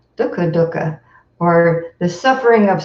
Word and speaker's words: dukkha: a big one okay so it's not dukka dukka it's dhoka duh like the word put papa Doka Doka so I'm